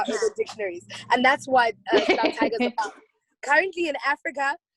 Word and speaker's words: Slaap Tiger: Tiger album coming out, or is it Slaap Tiger? It's Slaap Tiger, absolutely. There we Slaap go. Tiger actually means sleeping tiger. Slaap Tiger, that's how you say it.